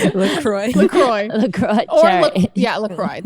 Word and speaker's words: LaCroix: LaCroix. That's what you're supposed to pronounce it as.